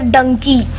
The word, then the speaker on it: Dunki: আমি যতদিন থেকে শুনেছি আমি এটাকে প্রোনাউন্স করছি ধুনকি বলে একটা গান ছিল না ক্যাটরিনা ক্যাপের তো ওই গানটাই প্রোনাউন্স করছি যেটা ধুনকি বাট এখানে এসে আমি জানতে পারলাম যেটা ডাঙ্কি যেটার একটা আলাদা মিনিং